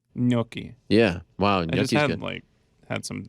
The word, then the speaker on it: gnocchi: my bad ganache kanachi yes um no it's gnocchi gnocchi yeah wow had some like three days ago